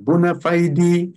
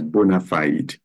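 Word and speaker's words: bona fide: it's a matter of bonafide trust it's a matter of bonafide trust I know some people will pronounce it as bonafied but it is Bonafide it's a matter of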